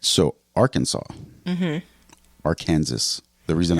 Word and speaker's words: Arkansas: no law that actually says it's prohibited from mispronouncing it but there the Arkansas code actually does Define how to pronounce Arkansas